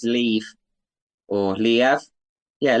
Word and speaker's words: Liev: I would say it's Lev or Liev. Yeah, Liev. Yeah, like Kiev, but Liev.